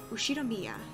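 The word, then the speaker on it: 右代宮: The first part is my family name, Ushinomiya. That's a fairly plausible Japanese pronunciation so far.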